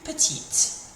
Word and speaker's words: petite: So the difference this makes is that when we get the E on the end, it makes us finish on the sound of the letter that comes before it. So plus petite.